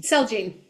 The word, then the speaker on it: Celgene: Jude Medical, Celgene, sorry, how do you say that one? Celgene.